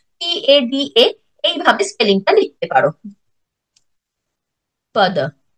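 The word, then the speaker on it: पद: ইংলিশে লিখলে সেটাকে টার্ম বলে মেনশন করতে পারো, অথবা PADA এইভাবে স্পেলিংটা লিখতে পারো, পদ। সংস্কৃত উচ্চারণে উচ্চারণটা পদ হয়ে যাচ্ছে।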